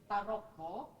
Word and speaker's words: Tarombo: And the reason why we can have this is because Tarokbo, as we call, the pronunciation is Tarokbo, is the very heart of Batak culture.